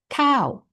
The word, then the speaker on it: ข้าว: In Thai, it is cow.